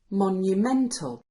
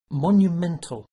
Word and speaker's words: monumental: an adjective we get Monumental Monumental now the word stress is in the middle and the sound is meant instead of Mt listen to both words Monument Monumental Monument Monumental okay so